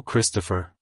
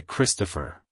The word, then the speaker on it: Kristopher: the end with a slight pause between the syllables like hello Christopher goodbye Christopher if you found the video helpful hit the